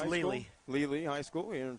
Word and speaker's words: Lely: For the blue team, it'll be number 8, Brian Bachman from, is that pronounced Leli? It's Lely.